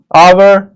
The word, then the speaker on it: hour: It will be noticed that the words hour, honest, air begin with a vowel sound as the initial consonant H is not pronounced.